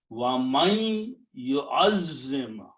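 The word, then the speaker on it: وَمَن يُعَظِّمْ: make a gunna and pronounce the ya with a shadda here, and do not pronounce the noon sound, so we remove this harkat from there. So now the sound will be wa man yu'azzim, wa man yu'azzim.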